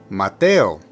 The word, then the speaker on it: Mateo: names first we have Mateo put the emphasis on the second syllable m m next we